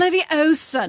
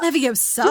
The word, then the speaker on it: Leviosa: Leviosa, not Leviosa. I'm like, You're saying it wrong.